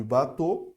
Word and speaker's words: bateau: Olha só, esse daqui e esse daqui é a mesma pronúncia, ok? Beaucoup, bateau. É literalmente o.